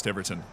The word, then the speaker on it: Tiverton: And I did not know it was Tiverton, and I'm very sorry.